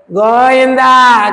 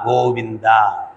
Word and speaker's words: గోవింద: ఇందాకెవరో గోయిందా గోయిందా గోయిందా అంటున్నారు. ఇందా కాదు, విందా, గోవిందా. కొత్త పదాలు ఎందుకు సృష్టించడం? గోయిందా ఏంటి? గోవింద, గోవింద, గోవులకు విందు చేయగలిగిన వాడు. గోయిందా కాదు, గోవింద.